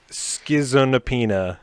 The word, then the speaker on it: Schizonepeta: Schizonapina. Okay, wait. How do we spell it?